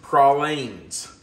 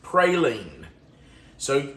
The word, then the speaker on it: praline: If you live in certain areas of the country, this is pronounced pralines. If you live in other parts of the country, it's pronounced praline. So you can call it whatever you want.